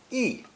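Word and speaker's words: 意: heart radical below it this new character is pronounced fourth tone e e it means thought intention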